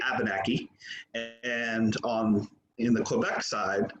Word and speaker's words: Abenaki: That's kind of why on the US side, Abenakis will say Abenaki, and in the Quebec side, they say Abenaki. Because in Quebec they still speak French, so they use that French pronunciation of Abenaqua and say Abenaki.